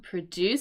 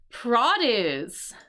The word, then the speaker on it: produce: produce something here with the accent on the second syllable, right? To produce something or to create something. But here, um, vegetable garden yields enough produce. So produce with the accent on the first half, we mean fruit and vegetables.